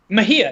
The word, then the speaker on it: Mejia: Mejia, yeah.